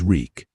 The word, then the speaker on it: Reek: My name is Reek. He had to remember his name. It rhymes with freak.